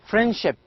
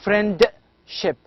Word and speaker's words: friendship: religion one more example friendship friendship so friendship so you can hear there is no d d is not clear in fact it is not pronounced here i'm not saying friend ship i'm saying friendship and